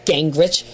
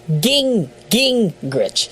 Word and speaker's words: Gingrich: It's not gang. It's ging.